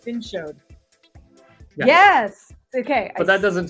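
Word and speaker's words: vin chaud: Showed or shod is how you say hot, and vin is wine. So it's like vin showed.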